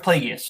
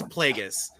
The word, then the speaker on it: Plagueis: Is that how it's pronounced? Yeah. Darth Plagueis. Final answer. That is correct for 2 points. Do we want to be petty? no. Okay. No. Okay. It's Plagueis.